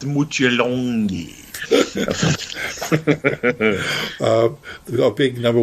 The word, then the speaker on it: Mutt Lange: Yeah, I'm here to see Mutt Lange, and it's like no, it's Mutjalongi.